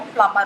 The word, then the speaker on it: plumber: इसी तरह से क्लाइमर एंड PLUMBER, जिसको आप लोग प्लम्बर बोलते हैं, इसकी भी सही प्रोनाउंसिएशन जो है वो प्लम्बर होती है।